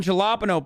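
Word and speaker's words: jalapeño: bottle rocket hot sauce verde made with green jalapeno peppers i'll read the i'll read the letters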